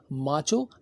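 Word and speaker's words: macho: आए तो उसे हम माचो या मैचो, ये दोनों अमेरिकन और ब्रिटिश एक्सेंट्स हैं, प्रोनाउंसिएशंस हैं, तो आप इसे मैचो या माचो भी कहते हैं, माचो मैन।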